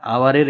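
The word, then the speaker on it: hour: We roamed about here and there for dash আওয়ার, এই যে আওয়ারের এইচটা silent আছে, সেই জন্য এটা কি হবে ভাওয়েল হবে। হ্যাঁ, ভাওয়েল সাউন্ড হচ্ছে আওয়ার, ও দিয়ে শুরু হচ্ছে, সেই জন্য হবে ফর অ্যান আওয়ার।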